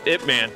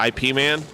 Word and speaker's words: Ip Man: Bruce Lee was Ip Man, yeah, and that came, yeah. And it's not, people actually want to pronounce that IP Man. It's not IP Man.